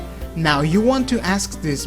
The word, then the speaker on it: no: Spanish no no really similar than the English version however there's a small difference in the English version uh you say no with a little u sound at the end in Spanish you don't have that it's just no no you don't add uh